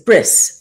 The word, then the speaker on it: bris: Uh here I give him my covenant brit like brit milah um is a bris uh is how it's pronounced in Yiddish.